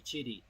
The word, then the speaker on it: QIDI: Qi Di is actually Chitty.